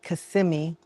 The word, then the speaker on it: Kissimmee: So I finally found a cardiologist because if you've been following me, you know that I moved to Kissimmee, let me say it right, Kissimmee.